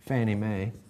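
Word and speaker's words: Fannie Mae: you remember I said the popular way of pronouncing this FNMA Federal National Mortgage Association Fanny May and then there are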